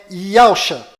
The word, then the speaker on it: Yausha: O verdadeiro nome do Messias está do lado direito da sua tela e a pronúncia dele é Iacha.